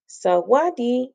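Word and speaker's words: sawatdee: say smile this is how you say hello salwadi when thai people say hello or goodbye they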